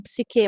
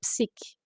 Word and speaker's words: psique: As pessoas às vezes falam psiquê, mas a pronúncia correta a partir do grego seria psique.